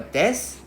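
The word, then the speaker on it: desu: well so for example Japanese sentence always end with either a desk or a must. So the U over here we don't pronounce also right.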